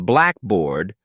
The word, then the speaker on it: blackboard: the word for example in airport the stress is on air not port in Blackboard the stress is on black not bored practice saying these slowly